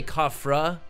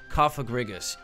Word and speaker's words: Cofagrigus: never pronounce this name I want to say kafra but it's Kaa kaag grigus like um sarcophagus cofagrigus ex right so you